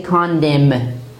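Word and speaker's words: condemn: not say what condiment we say condem condem so in here you see that n is used after m if we use n after aim at that time it is silent force is it represents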